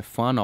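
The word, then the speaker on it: whānau: de algumas por exemplo é fana ou que a gente vai falar que se escreve com WH mas se lê como f quando tem WH no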